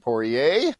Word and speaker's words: Poirier: I'm here with Meghan Poirier, who she told me specifically that's the right way to pronounce it.